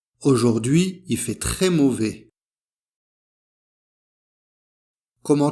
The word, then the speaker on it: aujourd'hui: Alors la prononciation o, o, ou, ou. Aujourd'hui.